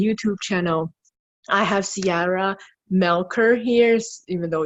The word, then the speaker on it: Melcher: sizes podcast and YouTube channel I have Ciara melkor here's even though spelled Melcher er but it's pronounced Melkor he is a holistic transformational mentor